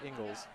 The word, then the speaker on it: Ingles: down to remember it that is pronounced Ingles I was gonna say you're right it's right there in horrible handwriting Ingles but it's hard once